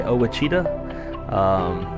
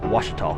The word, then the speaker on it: Ouachita: Most people say Ouachita, but it's actually Ouachita, which is named after the Ouachita Indian tribe.